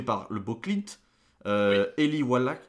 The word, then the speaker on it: Wallach: le beau clint eli wallach wallach je crois que c'est comme ça que ça se prononce et lee van cleef